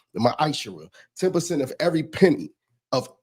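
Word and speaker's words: ma'aser: The book of Malachi 3:8-10 means t 10th means 10th in Hebrew and it's pronounced misher 10% of every penny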